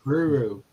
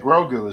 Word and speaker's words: Grogu: Oh, I call it Guru. Like Grogu is how you pronounce it.